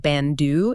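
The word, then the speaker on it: 밴드: Imagine a teammate is trying to say the word band, pronounced bandeu in Korean.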